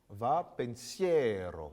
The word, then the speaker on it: Va, pensiero: petit peu oui alors pour l'italien ce qui est important c'est d'avoir l'accent tonique d'accord va foncière va pensiero une écoute nos chanteurs